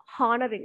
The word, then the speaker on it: honoring: commemorative issue honoring people we must not say ha honoring that's incorrect h is silent honoring people evens and